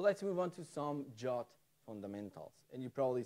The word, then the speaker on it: JWT: name the number and in the RFC itself it says that you should pronounce that as jot I have no idea